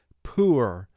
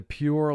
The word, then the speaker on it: pure: we say it so you must pronounce this word with the y and the oo sounds to represent the long u sound here and no special